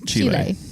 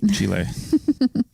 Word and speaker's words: Chile: want to like Chile have a Spanish pronunciation Chile yeah all right Chile there you go you've been learning Spanish so got to get those words right Chile so I wanted to